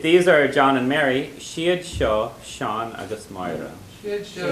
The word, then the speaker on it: is: And even if it's spelled is-a, you still pronounce it she.